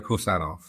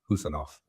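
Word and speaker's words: Khusanov: in this field is, have I got that pronunciation of the surname right? Pretty much. It's Abdulkadir Husanov. So it's like, who, as in that you say, who is that? Husanov.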